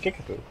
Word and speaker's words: Kickapoo: Kinkakee is pronounced Kinkakee, and Kickapoo is pronounced Kickapoo. Both Native American.